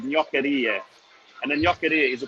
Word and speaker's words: gnoccheria: So, Ben, you own what's called Australia's first gnoccheria. Is that how you pronounce it? What does it mean? Yeah, that's very good pronunciation, Ricardo. So it's gnoccheria. You really have to roll it.